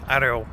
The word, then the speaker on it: Орёл: Получается — «Орёл», но из-за особенностей русского языка «О» как бы превращается в «А», поэтому «Арёл», потому что ударение падает на «Ё».